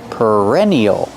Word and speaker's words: perennial: are called perennials pronunciation use the r sound like Burger per per perennial these flowers are called